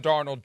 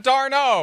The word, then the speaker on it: Darnold: First question about Sam Darnold. Do you remember how you pronounced his name 7 years ago? Darno? He was French. He was French. Constantly. I know. Amor Fati. Yeah, I know. Sam Darnold.